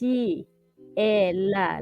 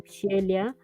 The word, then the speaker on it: Sheila: So for me, it's Shiyelia, like shield, Shiyelia.